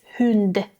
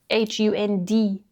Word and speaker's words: hund: you use the word for dog hund is same pronounced differently in Sweden it's pronounced hund in Danish it's pronounced h and in Norwegian it's hund h u n d hund Her favorite food is fisk fish soup.